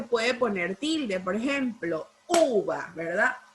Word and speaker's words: uva: Por ejemplo, uva, ¿verdad? Uva. Lleva el acento en la letra U, ¿verdad? En la sílaba U.